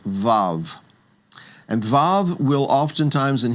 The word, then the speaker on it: Vav: And when it serves as a consonant, it will get the V sound, the VV sound as in vav. So the sixth letter is called vav.